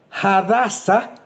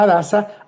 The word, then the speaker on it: Hadasa: Y entonces sigue diciendo, "Y este Mardoqueo había criado a Hadasa o Hasasa de acuerdo a si la pronunciación la hacemos con la h muda, diríamos como se habla en español, hadasa o hadasa."